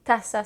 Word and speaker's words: taza: Vous voyez, taza s'écrit avec un Z, mais on va quand même le prononcer taza parce que le Z n'existe tout simplement pas.